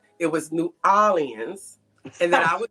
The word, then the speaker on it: New Orleans: He told me that I was saying it wrong. He said it was not New Orleans, it was New Orleans, and that I was saying it wrong.